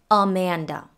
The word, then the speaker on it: Amanda: lemon the name amanda the first and the last a are the schwas and the middle one is a short a sound a amanda and her last name